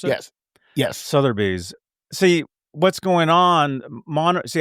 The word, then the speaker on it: Sotheby's: Is that how you pronounce it? Yes, yes, Sotheby's.